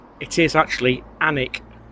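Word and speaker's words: Alnwick: pronunciation it is actually anic you don't pronounce the L and you don't really pronounce the W it's anic and it's from the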